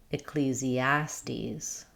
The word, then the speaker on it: Ecclesiastes: In Ecclesiastes, we stress on the A syllable. Um, we have an I sound for the letter E. So, it's just does not doesn't start with E, but a relaxed I sound.